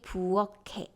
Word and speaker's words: 부엌에: And the last one, you see 키읔 and then followed by zero consonant, so it should be 부엌에. But if it's in isolation, then 부엌 with 기역 sound in the final position, which means kitchen.